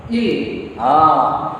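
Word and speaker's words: ils: See, these 7 are final pronounced consonants. All other consonants will be silent at the end. So how will you pronounce? Il.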